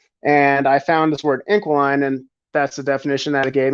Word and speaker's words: Inquiline: So my brand, Inquiline, that's how you say it, is an Inquiline.